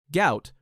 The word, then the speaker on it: Gout: Gout, pronounced to rhyme with pout, remains his official name.